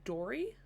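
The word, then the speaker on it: Dori: I want I think her name is Dory.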